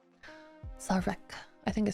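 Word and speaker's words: Szarekh: Sazarek? The Silent King announced that it had been sealed. So Ozkan is really smart. He's a big brain. Zarek? Oh, it's just Zarek? Okay. Zarek.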